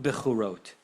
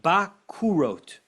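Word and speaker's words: בכורות: Habet bepatach, the word that we are pronouncing bechorot, it's not bechorot. Put a patach, put an a vowel under the bet. V'hakaf b'shuruk. What vowel is shuruk? U. And put an u vowel under the kaf. As if he says you should pronounce this not bechorot, but bakurot. And does that open anyone's mind?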